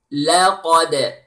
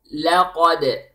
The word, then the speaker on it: لَقَدْ: and then the dal The lam is light The qaf is heavy, and then the dal is light with qalqala. Okay, qalqala, the name of this hukum. Now, I want you to repeat. Laqad.